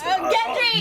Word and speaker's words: Gendry: It almost sounds like laundry. Yeah. Oh, it's Gendry.